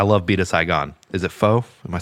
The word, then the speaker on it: pho: Is it pho?